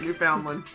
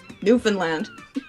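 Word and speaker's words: Newfoundland: Foundland yeah you Foundland I mean that is the way it's spelled but it's not really the way it's said you know it's Newan land new that's the way the schools always say it too so I'm inclined to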